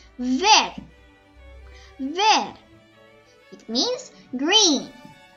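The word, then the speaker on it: vert: yellow next is and remember we do not pronounce the t so it became ver ver it means green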